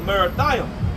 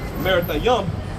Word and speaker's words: Merathaim: Verse 21: Go up against the land of Merathaim. That's how you pronounce it in Hebrew as well. Merathaim, all right, which means double straight, a double rebellion, man.